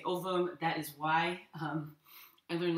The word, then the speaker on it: ovum: In Latin, the V, in classical Latin, the V is pronounced as a W. You can just pronounce it as a V. There's actually evidence that the Romans pronounced the V as a V.